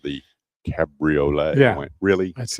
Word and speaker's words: Cabriolet: It's called the Cabriolet. Yeah. I went, really? That's it. Really? Well, I stand corrected in how I pronounce that, but it's still what I had.